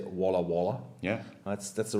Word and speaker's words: Walla Walla: You say Walla. Yeah. That's the right pronunciation.